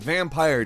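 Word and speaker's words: Vampyr: 2018 number 10 is vampire with Y however it is pronounced vampire despite the Y vampire is an action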